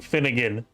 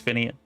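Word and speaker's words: Finnean: Why is everybody saying Finnegan? Have I been reading it wrong and saying it wrong for all this time? Because I'm pretty sure, like, every single person is saying Finnegan. Okay, it's Finian.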